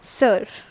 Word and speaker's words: sœur: So this O and E are actually connected, and it is like O and E. Alright, and it produces the sound like sir.